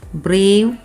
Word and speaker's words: brave: Brave, braver, bravest. So while you say brave, the last E is silent.